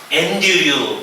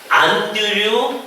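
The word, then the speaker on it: Andrew: 그러니까 이제 그걸 따라서 이제 스코틀랜드 사람이니까 안드류 멜빌, 오늘 마음속에 그 사람 이름을 딱 생각을 해보시는 거예요.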